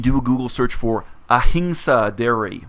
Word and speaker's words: ahimsa: If you do a Google search for ahimsa dairy, that other people pronounce ahimsa dairy, it's a Sanskrit word, surprise.